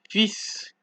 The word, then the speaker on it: fils: And for S, you don't pronounce the S at the end of the word. So you have to, for this word, it is exprès, toi, vous, right? Exprès, toi, vous. Exceptions being fils and bus.